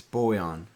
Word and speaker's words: Bojan: there bojan Cade Ivy it's boyon boyon I don't know if